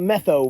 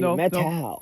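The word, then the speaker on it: Methow: Metau Valley. Don't call it Metho Valley. Metau.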